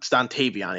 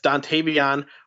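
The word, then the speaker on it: Dontayvion: I say it right stuntavian it's dontavion Wix out of Virginia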